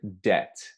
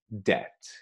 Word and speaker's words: debt: are repeat the word debt after me debt this is a word that tricks people up trips people up um the b is silent you don't pronounce the b so it's just debt